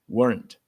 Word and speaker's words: weren't: Observa que essa essa segunda letter I você não deve pronunciar, então weren't.